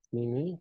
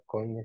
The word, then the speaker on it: Koine: Que es el texto alejandrino, el texto mal llamado texto occidental y el tipo Cini, creo que se pronuncia o Koine si lo leemos textual, común o bizantino, ¿no?